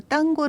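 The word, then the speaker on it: tango: 인가요 4 int 가 탱고는 스페인어 발음 으로 딴거 라고 부릅니다 어 딴거 는 그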